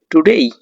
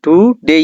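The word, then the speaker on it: today: এই তাহলে ডেই পেই সেই মেই রেই প্লেই প্রে স্টেই টুডেই। এ টুডে হবে না। টুডেই হবে। সঠিক উত্তর হবে ডেই।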